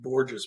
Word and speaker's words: Borgos: Yeah, my last name is pronounced gorgeous, but I still correct